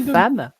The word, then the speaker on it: femme: d'un enfant attendez alors pourquoi le E de femme se prononce a parce que il y a de M et que ça prononce la ça modifier la prononciation et pourquoi de M